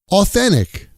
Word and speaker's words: authentic: Authentic. Authentic becomes authen-ic.